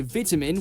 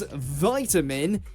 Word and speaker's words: vitamin: in the UK day you'll hear vitamin with a small I but in the US it becomes vitamin as though it's a capital I the short ey pronunciation is a lot more common throughout the world than the American variant wait I never thought